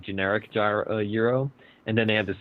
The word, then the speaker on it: gyro: You want to say gyro. I have a feeling you say gyro a lot. And it's actually gyro.